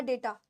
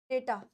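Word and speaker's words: data: है बच्चे डाटा या डेटा डेटा य डाटा नहीं होता डेटा होता है डेटा यानी समान फॉर्मेशन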